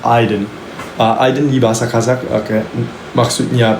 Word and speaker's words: Ayden: Arti nama saya, jadi Aiden itu sebenarnya pronounce di bahasa Kazakh Aiden.